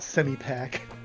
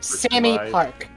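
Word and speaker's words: Sammy Pak: they pronounce it SE it's not semi pack semi pack she she says call me Sammy semi Park like Sammy Park no a park for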